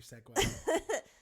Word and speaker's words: segue: I love it when you segue. Also, do you know, obviously you know how it's spelt, but not how you'd think.